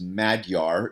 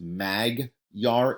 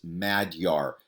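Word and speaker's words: Magyar: is really known as madyar it's pronoun it's not pronounced mag yar it's mad yar like being mad yar okay so it's pronounced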